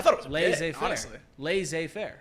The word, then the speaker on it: laissez-faire: Laissez-faire? Laissez-faire? Well, you got it right that time. Did I pronounce it wrong the first time?